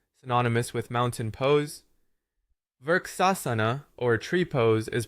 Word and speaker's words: Vrksasana: Vrksasana, or tree pose, is pronounced vrikshasunu.